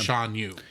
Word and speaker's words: Shan Yu: I had the name wrong for the villain of Mulan. It was Shan Yu.